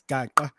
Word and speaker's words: Gaqa: I ended up saying, just spell it, don't say it, dudes, because it's just one click. It's Gaqa. Gaqua.